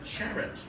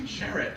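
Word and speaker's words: Charrett: have developed and in cooperation with Anne-Marie uh charit uh who I've known for nine years and last week I learned to pronounce her last name it's Jarrett apparent apparently so I have to apologize to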